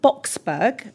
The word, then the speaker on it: Boksburg: You were born in Boksburg, am I pronouncing that right?